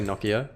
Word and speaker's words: Nokia: If I had this on my phone in 2007, on my Nokia, or Nokia, how do Americans say Nokia?